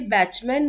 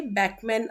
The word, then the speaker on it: Bachman: ये बैचमैन नहीं आपको पढ़ना, BACH, ये बैकमैन आएगा इसका प्रोनाउंसिएशन, ठीक है।